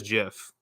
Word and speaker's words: GIF: became a Jif now so Jeff gif however you say it oh excuse me Jeff give tomato tomahto however you say it right so anyway apparently it is Jeff but whatever so um